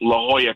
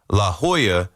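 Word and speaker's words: La Jolla: I mean, like me mispronouncing La Hoya, spelled La Jola, L A J O L L A on a screen.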